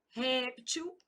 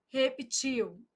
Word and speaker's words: réptil: Então, aqui, ó, projéteis e projetis, projétil, projetil, tô marcando a sílaba tônica, tá? Répteis, reptis, réptil, reptil.